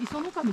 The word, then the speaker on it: 石上: はい、あれで磯の神って読むんですよ。